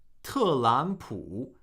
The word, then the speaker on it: 特朗普: The first of the pair is pronounced as a second tone. All right? 特朗普, 特朗普.